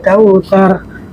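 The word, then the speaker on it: الْكَوْثَر: Inna a'tainakal kautsar. Sa, mungkin di ujung ayat pertama mungkin masih ada yang membaca sa atau ca, atau maka yang benarnya adalah sa. Letakkan lidah kita di tengah-tengah gigi kita teman-teman.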